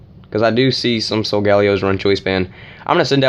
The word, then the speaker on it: Solgaleo: She's going to send out this huge, massive threat, aka Solgaleo. She told me the right pronunciation was Solgaleo.